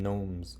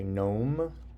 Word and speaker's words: gnome: But I guess they call them gnomes also. When they're tiny. These are little tiny creatures. Your turn. Did you say gnome?